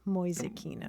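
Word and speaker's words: Mäusekino: How do you spell that? Moyakino. Uh, m a umlout u k i n o. Moakino.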